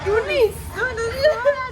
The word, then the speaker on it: Tunis: T'as prononcé en fait. Ah, l'accent. Oui. C'est Tunis.